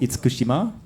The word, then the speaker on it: Itsukushima: It's if my pronunciation is correct, Itsukushima? Yeah, the shrine is called Itsukushima.